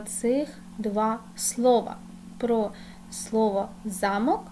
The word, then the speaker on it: замок: намалювала Великий замок крапочка позначимо наголос у слові замок друге речення замок відмикається ключем наголос на другий склад Діти давайте складемо речення